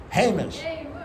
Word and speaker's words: Hamish: Hamish.